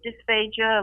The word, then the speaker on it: dysphagia: So explain dysphagia, and am I pronouncing that right?